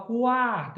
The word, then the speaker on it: quarta: Na palavra quarta, eu consigo escutar o som do U e do A.